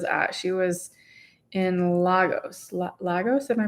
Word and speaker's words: Lagos: Lagos, am I pronouncing that right?